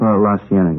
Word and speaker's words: La Cienega: Over on, that street out that way, La Cienega, is that how you say it? La Cienega, yeah.